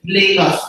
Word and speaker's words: Lagos: you know online that they call it Laos so they places there I mean Lagos is what we call it so if you want to tell the story at least you need to know how to say the name right it's Lagos for those of us who are not from there so um thank you